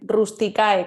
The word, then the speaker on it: Rusticae: Rusticae, que se escribe como suena con CAE.